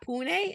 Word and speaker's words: Pune: is coming to us from Pune India yeah Pune is that how is that how you say